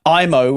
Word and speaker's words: Aimo: So we've got I'm going to get his name wrong as I do every time. Do it. Aimo, which is AIMO, Koivunen.